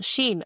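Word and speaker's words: 心: Is it zin or sin? If I'm pronouncing Sheen. Okay. See, I'm pronouncing it wrong already.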